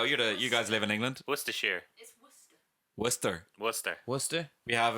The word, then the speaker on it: Worcestershire: pronounce it. Where's the shas? Worcestershire. Where's the shire? Worcestershire. Where's the Worcestershire. There you go. You guys live in England. Worcestershire.